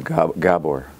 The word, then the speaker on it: Gabor: Claire, just for the sake of clarity, the name is Gabor. Nobody says it. It's okay. It's just every once in a while I like to hear it pronounced properly, so I say it myself.